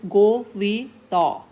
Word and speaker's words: Gore Vidal: Writer का नाम है, यहाँ लिखा हुआ बेटे, ही वॉज an American writer, गो वी द. एल को प्रोनाउंस नहीं करना, आर को प्रोनाउंस नहीं करना. गो वी द इज़ द writer of your play a visit to a small planet.